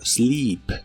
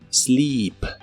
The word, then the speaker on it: sleep: Y usaremos el verbo sleep, que significa dormir. También se pronuncia con la I larga o doble. Sleep, sleep.